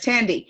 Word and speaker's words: Tandy: Tandy, am I saying that right? Yeah, you're Tandy? actually saying it right. Yes. Tandy.